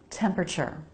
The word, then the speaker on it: temperature: Notice the second T here is a CH sound.